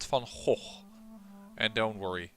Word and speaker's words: van Gogh: a Dutch painter that I am actually pronouncing it now on the way the English tend to do they tend to send Vincent van Gogh but it would be if you pronounce it correctly in Dutch Vincent Fong hole and don't worry it's